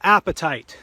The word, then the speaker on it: apatite: they typically form is a mineral that we call apatite, and it's not spelled the same way of what you would have for your desire for lunch, although frankly most of us have already eaten lunch, but it's pronounced exactly the same way.